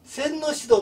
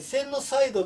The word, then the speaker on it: センノシド: 洗脳しだこれセンノシドと言ったりセンノサイドと言ったりするのはこれは同じものなんですけどちょっと読み方が違うということです私はセンノサイドが